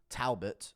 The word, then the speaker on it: Talbott: to beat pton tabot Talbert as they're pronouncing it Talbert but aguire went straight